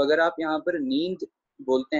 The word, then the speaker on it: नींद: जी हाँ, नींद का उच्चारण नींद ही किया जाएगा, पर अगर हल्का सा आप नासकी उच्चारण भी करेंगे तो इसमें कुछ गलत नहीं होगा। नासकी उच्चारण कहा जाता है जो हल्की सी बिंदी की आवाज दिया जाए, नींद।